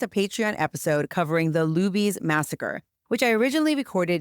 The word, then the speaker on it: Luby's: Patreon episode covering the Luby's massacre, which I originally recorded nearly 3 years ago. Unfortunately, I realized after it was published that I mispronounced Luby's, calling it Lubby's throughout the entire episode.